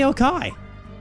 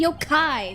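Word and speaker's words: 妖怪: it means blaming a yokai. Why do you keep saying yokai? It's yokai. The emphasis is on the yo part.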